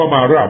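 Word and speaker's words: Marat: ตอบ เลย reply เ ผม ตอบ ว่า มาร่า มัน อ่าน ว่า มาร่า มัน เขียน ว่า มารัต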